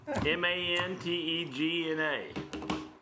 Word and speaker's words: Mantegna: well, Is it Knopf? No, Actually, no. It's not Knopf? that was Manatega now or whatever. Something, yeah. It's what? Managa. Mantegna. G-N-A.